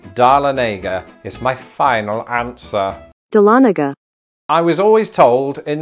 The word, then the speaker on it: Dahlonega: the last round darlenega is my final answer Dahlonega I was always told in life to go